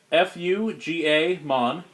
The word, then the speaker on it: Fugamon: It's spelled Fuga Mon. His name is Fugamon.